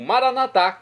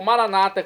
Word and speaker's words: Maranata: e agora eu clamo maranat como dizemos nós católicos ou Maranata como dizem nossos irmãos separados os evangélicos ou restante não importa pronúncia o significado é o